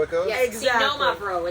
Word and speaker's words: Xinomavro: Xenomavro. It's not Xenomavro. It's Xenomavro. So all the reps who've been coming into my Ayurvedic.